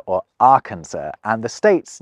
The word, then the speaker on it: Arkansas: of a word, so the final S isn't pronounced.